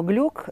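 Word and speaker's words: Glück: оцепить в америку то фамилия произносилось скорее всего глюк имела еврейское происхождение но поскольку америке устоялось другое произношение этой фамилия через и та часть россиян произносит через и поэтому тот сложно пока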